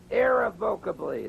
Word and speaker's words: irrevocably: That's irrevocably. The accent is on the first syllable.